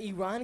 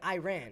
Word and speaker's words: Iran: I used to call it Iran. I said it wrong this episode, dude. Everybody says Iran. But you know what? Like, that's what they call it, Iran. I want to respect how they call it.